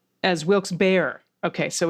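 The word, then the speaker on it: Wilkes-Barre: like i said so we got lehigh and wilkes bar as wilkes bear okay so it's lehigh and wilkes bear amen we have better mispronounced places and even better places that are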